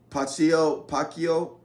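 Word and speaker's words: Pacheco: Then you got Mostert for the Miami Dolphins, DeAndre Swift, and Pacquiao. I believe is how you say his name, for the Kansas City Chiefs.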